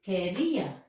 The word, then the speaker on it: career: Then, career, volunteer. So, the last syllable is stressed.